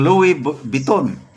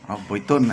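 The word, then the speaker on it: Louis Vuitton: Ituloy natin gusto ko lang pong sabihin sa inyo na meron po akong gift but watcher ng Louis Biton. Buiton. I'm sorry. Hindi ko alam ang pronunciation.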